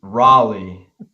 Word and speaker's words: Raleigh: name real quick no it's like the City Raleigh Raleigh North Carolina you know what this